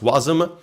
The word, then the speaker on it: Wasm: web assembly you can also say it wasm pronounced wasm was announced in 2015 then released in 2017